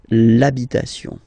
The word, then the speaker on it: l'habitation: for the masculine part, even if you've got this H, then the first sound you hear is A, okay, so for